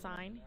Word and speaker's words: sin: This one looks like sin, cos, and tan. They are pronounced sine, cosine, and tangent.